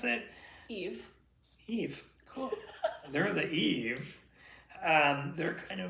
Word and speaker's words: Eve: They're the yees or yais, depending on how you want to pronounce it. Eve.